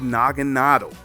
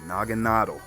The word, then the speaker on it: Naganadel: Now we have Naganadel. And yes, that's how you say it, Naganadel. Nadel is German for needle, and Naga is like another language for like beast or dragon.